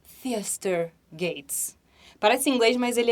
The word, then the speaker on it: Theaster Gates: americano, o nome dele é muito difícil de pronunciar, Theaster Gates.